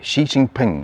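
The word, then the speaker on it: Xi Jinping: So Carney met uh the premier Xi Xi, it's spelled Xi. Shiinping I think his name is uh to discuss uh resettling uh relations after prolonged freeze from Huawei extradition era issues and detentions.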